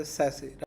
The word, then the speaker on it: SASE: Pronunciate people are as a SASE, right?